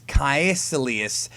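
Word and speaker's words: Kaecilius: name I can never pronounce ever okay it's kelus I can never pronounce his damn name um but I'm pretty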